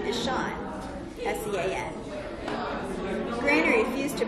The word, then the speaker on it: Sean: Corey's middle name is Sean, S-E-A-N. Granny refused to pronounce Sean as Sean because that was completely ridiculous. Everyone knows that Sean is pronounced Scene, S-E-A-N is Scene.